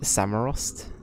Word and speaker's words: Samorost: know right is it how I say it samurrost honestly never played them before they're actually really